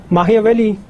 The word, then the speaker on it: Machiavelli: Machiavelli or Machiavelli, it's pronounced like that.